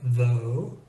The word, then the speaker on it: though: Then we have the sound O, which rhymes with English go. And you see that in words like though, and the related word although, and dough.